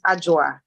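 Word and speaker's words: Adwa: So even though it's spelled A D W A, you pronounce it with a J. So it's AA or you can call me.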